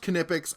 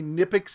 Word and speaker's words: Knipex: And yes, it's pronounced Knipex. I've talked to the people at the booth. I've talked to the people from Germany. It's Knipex. You can say Knipex if you want.